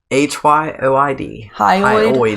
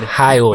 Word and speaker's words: hyoid: The hyoid bone. No R. Hyoid. Hyoid.